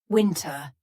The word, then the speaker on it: winter: sentence a little bit there are two different ways to have the glottal te the first one is with an NT so for example the words International winter internet sentence in these words the